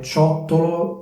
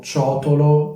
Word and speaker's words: ciottolo: Quindi singolare ciottolo, plurale ciottoli. Questa dovrebbe essere la pronuncia corretta, ma molte persone dicono ciotolo, ciotoli, quindi con una T soltanto.